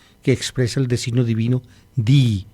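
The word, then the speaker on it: δεῖ: Di se escribe en griego, se escribe la letra D, la letra E y la letra I. Se pronuncia di, es necesario que, es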